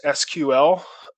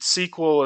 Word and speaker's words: SQL: start learning learning sequel they actually were clear to say it's pronounced SQL and sequel is just the term for for microsoft's microsoft products there's their system but